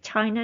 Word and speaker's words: Xing: Exactly the same pronunciation as the fictional country name Shin in its original Chinese pronunciation. However, it seems to sound closer to Chin.